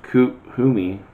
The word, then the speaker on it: Kuthumi: Kuthumi, pronounced Kuthumi, is an ascended master who appears as a well-dressed Indian man with a golden aura.